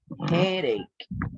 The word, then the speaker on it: headache: this word headache okay when we have this sounds like eight okay headache eight and the other